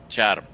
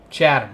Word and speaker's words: Chatham: Chatham. Chatham. I keep wanting to add the extra H in. Just like Chatham, Ontario. Yeah, well. Chatham.